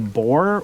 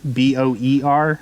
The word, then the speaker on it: Boer: ends up serving in What's called the bore War B OE R not b o a r and i could be I could be mispronouncing it it could be Boer War anyways the war